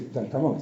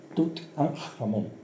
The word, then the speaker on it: Tutankamón: Sabéis que cuando se retiran las máscaras de la tumba de Tutankamón, que por cierto no se dice Tutankamón, si no es Tutankamón, es Tut-an-Jamón.